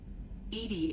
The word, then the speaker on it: EDI: are you named edie edie is the phonetic pronunciation of edi that is an acronym